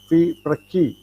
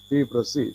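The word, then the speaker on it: FIPRESCI: It should be pronounced as Fi Praki, not Fi Prasi.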